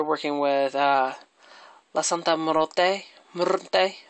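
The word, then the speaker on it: Santa Muerte: Morte, that's how you say it. You gotta do that.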